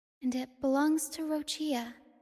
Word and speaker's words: Roccia: And she pronounced it Rochia.